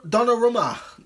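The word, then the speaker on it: Donnarumma: good shout that Donna Donna Romo is how you say his name Donna wrote that the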